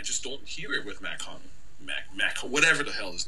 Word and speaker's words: Mach-Hommy: Mach-Hommy. First, you see the nigga name wrong. That is Mach-Hommy, man. Come on, man. It's Mach-Hommy, man.